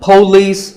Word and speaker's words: police: number six is police this isn't police or polis it's pa and lis with the stress on lease so police the next word is